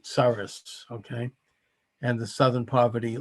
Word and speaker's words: Soros: They were left-wing secretaries of state who had received funding from George, the guy's last name rhymes with Soros, okay?